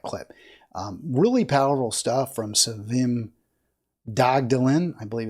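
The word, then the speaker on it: Sevim Dağdelen: Really powerful stuff from Savim Dagdalin. I believe it's pronounced Savim. She is, I said Savim, but it's Savim Dagdalin.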